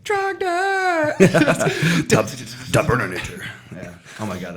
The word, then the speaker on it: Trogdor: said it wrong. It's Trogdor.